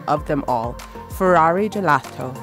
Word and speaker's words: gelato: Schelato. That's the way the average Viennese would pronounce the Italian word for ice cream, gelato.